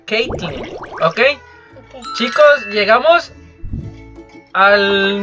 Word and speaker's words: Caitlyn: Bueno, se pronuncia Katelyn, pero... Bueno, se pronuncia Caitlyn.